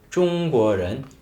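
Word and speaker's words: 中: 쫑구 쫑구 하긴 하는데요 근데 북방 쪽에서는 사실 중국이란 나라는 표준어 발음을 아나운서들의 표준어 발음은 방 쪽을 기준으로 설정을 하고 있거든요 그래서 표준어 발음은 중 완전히 우 발음은 아니에요 우의 입모양에서 입 안에 소리는 오 소리가 나는 겁니다 그래서 쫑 쫑 쫑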